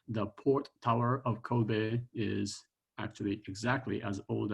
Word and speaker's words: Kobe: I am very proud of my hometown of Kobe, Japan, K-O-B-E, pronounced Kobe.